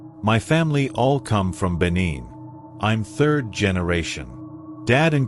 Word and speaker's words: Benin: Jim Beam, you boys know where Benin, Benin, it's pronounced is?